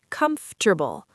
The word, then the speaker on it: comfortable: Another example is the word comfortable. Many learners try to pronounce every letter, but native speakers often say it more quickly, like comfortable.